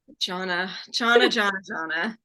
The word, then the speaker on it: Jonna: Yeah, That's how you say it. exactly how it's spelled. Yeah. It literally is spelled John Nah.